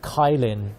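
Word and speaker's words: qilin: This, I believe, is a it's not a dragon, it's a Jilin, or I guess it's actually just pronounced Kailin in English.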